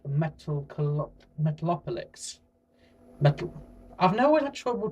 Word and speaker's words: Metalocalypse: Starting off with a thing I've just watched with a three-season series called Metalocalypse. Metal. I've always had trouble to pronouncing this. It's basically apocalypse with metal at the start.